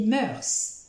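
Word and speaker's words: mœurs: bien jouer c'est pas mal du tout vous prononcez bien mars 11e manche moeurs mars les moeurs ce sont les coutumes des us et coutumes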